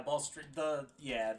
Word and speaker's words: Balustrade: So, what is that pronounced? Balustrade Spy? Yeah, Balustrade.